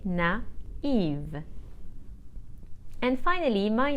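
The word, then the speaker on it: naïve: will say na if the feminine of that is spelled n a i v e with a trema on the I so I will say na Eve and finally my name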